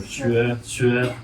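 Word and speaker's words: 学: At the heart of this aspect of his teaching is the opposition between shui, learning, and su, thinking.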